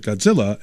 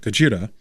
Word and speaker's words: Gojira: Warning, I'm not going to mispronounce it Godzilla and pronounce it Gojira.